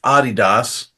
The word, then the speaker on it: Adidas: when I taught there is supposed to be pronounced Adidas uh that freaked me out true and then